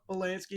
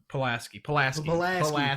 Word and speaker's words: Pulaski: She did not give two shits, which that is one thing about Polanski is like, she's like, or Pulaski. How do you say Pulaski? Pulaski. Thank you. Pulaski.